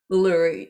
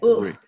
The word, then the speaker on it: Uluru: Yeah, Uluru. Yeah, Uluru. The emphasis at the end.